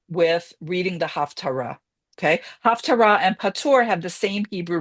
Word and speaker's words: haftarah: same sound, which means these words Torah and Haftar are not they're two completely different words. So again, it's correctly pronounced as haftara, but I will say haftra because that's the way I learned how to say it.